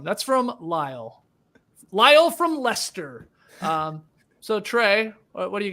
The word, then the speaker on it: Leicester: Liam, am I saying that right? Yes, you are saying it right. Very well done, Skeetsy. Yes. It's spelled crazy, guys. It's spelled weird, yeah. Yeah, it's Leicester, but Leicester, England.